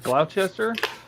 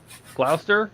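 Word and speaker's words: Gloucester: Uh, Stephen Haynes says there's also Is that Glchester? Is that how you say that? Glowchester. Glower. Glower. Do you just skip the sea altogether?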